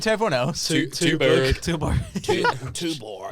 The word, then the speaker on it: Tuborg: Tuborg. It's Tuborg, isn't it? Like chew.